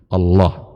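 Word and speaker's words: الله: Tapi untuk Allah maka punya cara baca tersendiri. Allah. Tidak boleh dibaca dan cara yang lain.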